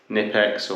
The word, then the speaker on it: Knipex: I'd instead recommend is a pair of these nipex or kex or however you want to pronounce it where this still an adjustable spanner